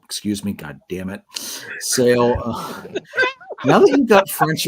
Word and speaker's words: Sale: Sale. Now that you've got French in my head, Jason, I'm going to keep screwing that up. No, it's spelled just like Sale. It's spelled like Sale.